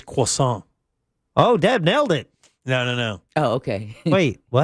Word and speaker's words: croissant: It's croissant.